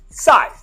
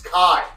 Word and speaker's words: Kai: No, wait, Sai. Hey, Ron, it's Kai.